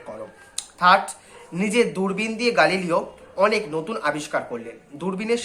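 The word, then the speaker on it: Galileo: প্রথম প্রশ্ন, সংক্ষেপে গালিলিওর ছাত্র জীবনের বর্ণনা করো। দেখো, গ্যালিলিও আমরা বললে কিন্তু ওটা আসল উচ্চারণ হচ্ছে গালিলিও, সেই গালিলিও আমি বলবো যে গালিলিওর ছাত্র জীবনের বর্ণনা।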